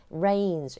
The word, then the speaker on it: reign: 너희의 하나님, 당신의 하나님이 reigns. 이때 rain이라고 하는 건요. 하늘에서 내리는 비는 rain 똑같은 발음이지만 이제 spell 다르죠.